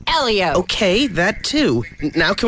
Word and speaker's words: Helio: who's very hot and it's pronounced Elio okay that too now